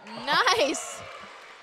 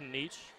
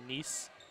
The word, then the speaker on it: Nice: There is a town in France named, well, it's pronounced Nice, or Nice, but it's nice.